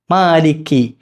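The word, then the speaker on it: مالكِ: ഇറങ്ങണ്ട ഇപ്പുറത്തായിട്ടാണ് എന്ത് ചെയ്യേണ്ടത് കാഫ് വരേണ്ടത് കാഫ് മാലിക്കി മാലിക്കി ഇതാണ് ഉച്ചാരണം ഇനി അതിനുശേഷം യ യൗമ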